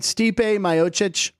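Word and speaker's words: Stipe Miocic: steep are we saying his written name right Stipe mochic very that's a good pronunciation I wouldn't have thought that in a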